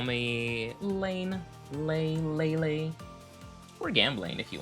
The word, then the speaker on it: Leyne: I I hear like laney and uh all sorts of other variations of my name, but it is pronounced lane. Like lane, like a traffic lane.